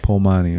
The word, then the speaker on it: Paumani: So, man, Puna, I'm a little bit disoriented today, so the name, help me pronounce it. Paumani. Yeah. Paumani, all right.